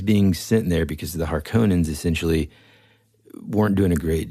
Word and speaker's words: Harkonnen: In the movie, this version, they pronounce it Harkonnen. Mm-hmm. I, as anybody listening, am not a linguist, and I frequently mispronounce things, but my entire life since I was 6 or 7 pronounced them Harkonnen. So I don't know which way is correct, but I'm sticking to Harkonnen because that's just what I call them.